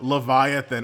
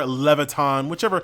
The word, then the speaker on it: Leviathan: Yes, I'm mostly talking about Final Fantasy, but love Leviathan or Leviton, whatever pronunciation you want to go for.